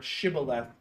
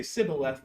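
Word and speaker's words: shibboleth: of Israel use this can you pronounce the word shibth um a certain way and if they say cibleth they know they're foreign and they kill them.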